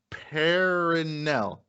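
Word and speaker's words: Perenelle: always butcher her name i'm going to try to say this out phonetically paranell paranel final i think it's how you say her that's how you pronounce your name okay i got you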